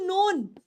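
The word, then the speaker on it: known: called is called फ्राउन लेकिन वही अगर मैं वर्ड लिख दूं नोन तो उधर ये साउंड ओ की हो जाएगी और इधर ये साउंड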